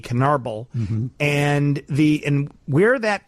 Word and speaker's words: Canarble: It's C A N A R B L E Canarbal.